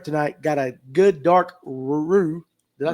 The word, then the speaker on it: roux: And the fresh Gulf shrimp tonight got a good dark roux. Did I say that right? No, roux. Roux for gumbo tomorrow. Listen, I can't pronounce them, but I've watched Dave cook it.